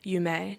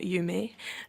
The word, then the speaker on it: Yu Mei: Yume, not Yumi.